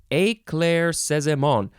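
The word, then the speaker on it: éclaircissement: now wait a minute there is not a single syllable that says it is emphasized so you're supposed to say every single one of these syllables the same way eclair says them all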